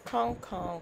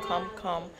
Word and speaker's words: come come: Remember, it's kong kong. It may sound like kum kum, but it's actually kong kong.